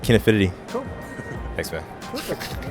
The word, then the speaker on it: Kinefinity: I'm pronouncing it right, Kinefinity.